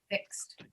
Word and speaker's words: fixed: We will not say fixed, we'll say fixed. We'll add a T sound after it. The D is pronounced as if it were a T, if the sound before it is not voiced.